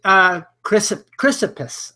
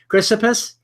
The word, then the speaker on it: Chrysippus: He's not content with Socrates here, so he brings in Chrysippus, I believe is the pronunciation. Correct me if I'm wrong on that. Chrysippus?